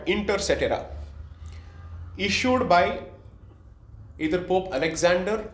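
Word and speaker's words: Inter caetera: I'll spell it out. I-N-T-E-R-C-A-E-T-E-R-A. Inter cetera.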